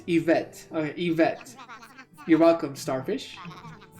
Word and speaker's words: Yvette: Yvette. You don't want to stress on that second vet syllable.